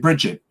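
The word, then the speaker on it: Brigid: it almost like a it's got a soft G on the end yeah um and Peter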